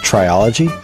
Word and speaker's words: Trilogy: I believe it's pronounced triology.